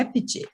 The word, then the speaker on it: Appice: E ele comenta que um outro irmão dele, daí já prefere a pronúncia italiana mesmo, né? Que é Appice.